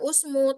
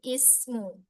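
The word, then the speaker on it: اسم: Terus ismu bukan dibaca usmu tapi ismu.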